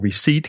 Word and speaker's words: receipt: Porque ya sabes que muchas palabras, como knife, que tiene una K que no se dice, como receipt, que tiene una P que no se dice, pues hay muchas palabras en inglés que son muy raras de pronunciar.